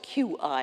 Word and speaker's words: qi: Now, the qi, it's spelled Q-I in English, but it is qi, is an example of a force that we find in every single pre-modern tradition, virtually.